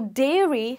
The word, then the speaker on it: dairy: only one sound so dairy has the eh sound and Diary has the I sound.